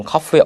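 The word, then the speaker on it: قاف: 보겠습니다 어 2 잠언 카프 라고 부르고 요 음 까는 k 입니다 우리나라 한글의 키울까 비슷한 발음이 되었습니다 먼저 카프 는 동의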